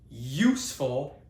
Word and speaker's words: useful: So the U in this case useful and unicorn useful unicorn makes a Y a Y sound.